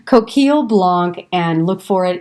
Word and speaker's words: Coquille: Look for this Coquille Blanc, and it's spelled Coquille, Blanc, Blanc. If I was doing French, I shouldn't say the C, but we're American, for gosh sakes. Coquille Blanc, and look for it in your wine store.